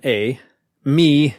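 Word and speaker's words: Eimi: entitled e-i-m-e right and pronounced a as in a me as in me accent on the me signifying am how does am compare with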